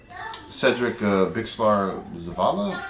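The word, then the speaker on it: Cedric Bixler-Zavala: Cedric Bixlar Zavala, that's how you pronounce his name, from the Mars Volta, comes in, does some vocals and does drums.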